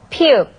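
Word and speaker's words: 피읖: Let's try pronouncing it. 피읍, 피읍, 피읍.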